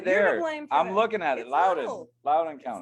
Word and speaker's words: Loudoun County: The most disturbing thing that I heard from everything you just said was the fact that you pronounced it London County when it's Loudoun County.